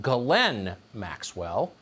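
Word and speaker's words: Ghislaine Maxwell: crimes including sex trafficking her name apparently is pronounced glenn maxwell spelled jizzlane you know who she is according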